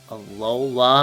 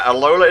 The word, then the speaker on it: Alola: Alola, am I pronouncing that right?